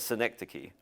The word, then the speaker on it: synecdoche: movie is synecdoche that's how you say it synecdoche and a synecdoche is a is a small